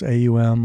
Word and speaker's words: AUM: Most people call it Om Films, AUM, like Om.